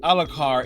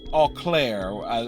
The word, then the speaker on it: Alclair: said I just realized I said Alakar it's Alclair so I mispronounced that I apologize I